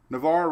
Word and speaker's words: Navar: still did it so Navar rhymes with rebar oh rebar Navar Nar